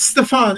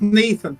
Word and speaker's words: Stefan: yeah, it's Stefan. It's not Nathan.